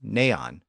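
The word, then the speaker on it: nān: None was not one, originally pronounced neon. Over time, the two-syllable neon became the single-syllable non, and later none.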